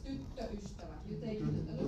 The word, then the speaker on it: tyttöystävä: Always remember to check whether there is one or two T's. It's not tytöystävä. It's tyttöystävä. You take it a little bit longer. Tyttöystävä.